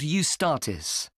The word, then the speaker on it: Eustatis: there's a performance by a ballet company called eustatis sorry the name is spelled e u s t a t i